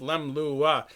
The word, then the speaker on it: leumluath: The word Leumluath, pronounced Leumluath, comes from the Gaelic meaning fast, lua, and jump, lem.